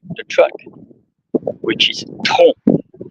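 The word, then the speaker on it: tronc: about many aspects of the tree like the track which is T R O N C and of course many trunks.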